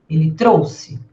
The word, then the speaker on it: trouxe: Nesse caso, eu pronuncio como se fosse um s forte. Eu trouxe, ele trouxe, nós trouxemos, eles trouxeram.